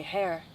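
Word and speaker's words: Herr: I can't say ivory, but I can say hair. Hair is how you say man. Frau is for woman or miss. So like when you say hair, you're saying mister. Hair. Hair. Hair. Hair. Like, yeah, like hair.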